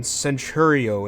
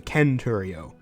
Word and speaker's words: centurio: legion into legion, or a consistent hard C turning centurio into centurio.